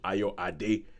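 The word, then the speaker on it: Ayoade: It is pronounced Aayo Ad, not Aayo Adi, which is what a lot of people have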